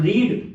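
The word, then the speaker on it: read: अब रीड। रीड का third form क्या होता है? रेड। तो हम लोग स्पेलिंग तो सेम ही रहती है। तो हम लोग रीड लिख लिखते हैं। लेकिन पढ़ते उसको रेड है।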